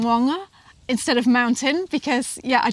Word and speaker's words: maunga: But it's quite hard to get your tongue around because it's moanga. It's like you have to roll your tongue at the back of your... Yeah, how do you spell it? Maunga. So, but it's got that moa. So those Maori vowels are a little bit different than the regular vowels.